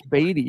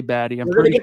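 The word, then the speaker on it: Badie: have Tyler batty baddy I I'm pretty sure it's batty even though I screw up sometimes and say baddy pronunciation guide get we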